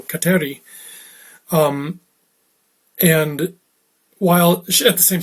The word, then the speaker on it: Kateri: And it was at this time then that she accepted the name Catherine, or as she pronounced it in her Mohawk tongue, Kateri.